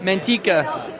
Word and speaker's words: Manteca: Monteca. Is it Manteca? I've been saying Manteca. Woo. Okay. I'm being given California words. She's adding more. Okay, so it's Manteca.